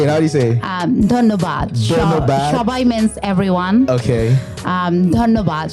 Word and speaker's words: ধন্যবাদ: ধন্যবাদ।